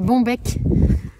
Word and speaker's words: Bonbec: Et c'est la capuche Bombec. Qui s'écrit comme ça se prononce B-O-N-B-E-C de Atelier Émilie, qui